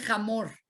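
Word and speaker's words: חמור: En hebreo burro se dice jamor. Jamor se escribe igual que Homer.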